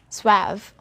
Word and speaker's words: suave: have different pronunciation so in english it's suev again suave notice the spelling so